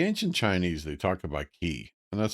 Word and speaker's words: qi: The ancient Chinese, they talk about key and that's spelled QI.